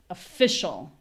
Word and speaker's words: official: So develop next official. Official. So, same stress as before. We have uh f sh. This ending is almost always like there's no vowel at all.